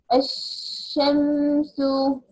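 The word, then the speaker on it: الشمس: Maybe letter sheen, like ash-shamsu. What happened? Disappeared. Lam here disappeared in my pronunciation. Ash, jumping from alif to sheen.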